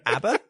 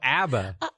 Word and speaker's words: ABBA: You mean ABBA? Oh, ABBA. Abba. Did you say ABBA? Abba. It's the European pronunciation.